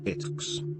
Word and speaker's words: iTeX: At the TUG 2010 conference, Knuth announced a satirical XML-based successor to TeX, titled iTeX, pronounced ITX, performed with a bell